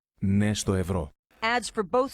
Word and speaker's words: Ναι: NAI is pronounced ne, and it means yes. Ναι στο ευρώ.